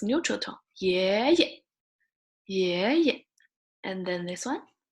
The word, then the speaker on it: 爷爷: 爷爷, right? 爷爷. You didn't say, if it's all second tone, you say 爷爷. It will be longer. The sound is longer. But if it's neutral tone, 爷爷, 爷爷.